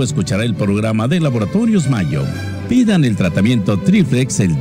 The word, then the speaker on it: Mallo: Y Mayo se escribe como gallo. L-L-O, Laboratorios Mayo.